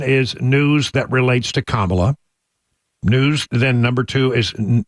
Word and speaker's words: Kamala: get this straight um she calls herself Kamala not Kamala so she's the authority on how she pronounces her name and we've got her on tape saying hi I'm I'm kamla and my my pronouns